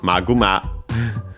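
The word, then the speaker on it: マグマ: Uh we have Maguma, of course, from English Magma. Uh we check its accent but hopefully it's the same as in yeah it's on the first syllable as expected.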